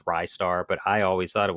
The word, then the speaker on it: Ristar: uh, cuz you know, everybody says it ry star, wristar. Um, the runner, his name was Mackey. He said that even Sega employees don't know how it's pronounced. Um because the katakana is actually different. Uh so it's it could be either way, but I think a lot of people thought rising star. It's ry star, but I always thought